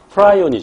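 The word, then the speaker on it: prion: 한꺼번에 3장 큼을 바라고 그 병원 제가 프라이 오니 줘 또는 프리온이 라고 발음합니다 단백질 썽 감염 입자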